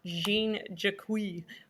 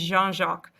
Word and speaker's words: Jean-Jacques: It is not Jean-Jacques, which I know people say it like. It is Jean-Jacques.